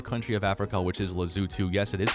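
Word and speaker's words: Lesotho: Now we have our final country of Africa which is Lazutu. Yes, it is pronounced that way.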